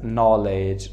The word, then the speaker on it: knowledge: اومده انگلیسی ضعیف است but they don't know that we don't pronounce k before n که قبل از k ما n را تلفظ نمیکنیم. That is knowledge, right?